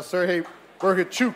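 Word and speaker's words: Serhii Bohachuk: There you go, Sergey Bergachuk, as he told me to say his name. It's a Chuk at the end, right, from Ukraine.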